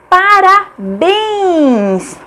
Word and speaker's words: parabéns: Parabéns, parabéns. A última sílaba é a tônica, bens, portanto é acentuada porque é uma oxítona terminada em ens.